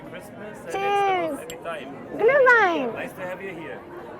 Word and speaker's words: Glühwein: Glühwein. Glühwein. Glühwein. Glühwein, yes, mulled wine. So you call it Glühwein and then you say cheers and you say Merry Christmas. And Cheers. Every time. Glühwein.